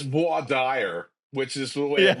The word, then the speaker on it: voir dire: But then there's that when he gets Marisa Tomei to on the stand, there's that word voir dire.